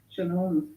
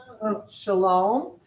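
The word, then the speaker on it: שלום: Shalom. Shalom.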